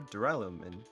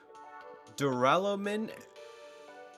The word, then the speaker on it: duralumin: It's about as light and robust as a material known as extra super duralumin. Duralumin? Okay, actually I said it correct. I pronounced it correctly.